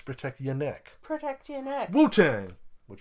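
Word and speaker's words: Protect Ya Neck: to pronounce it correctly it's not protect your neck it's protect your neck protect your neck Wang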